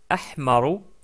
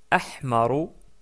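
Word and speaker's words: أحمر: Donc d'abord le rouge qui se prononce Ahmar. Ahmar puis le jeune qui se prononce asfaro asfaro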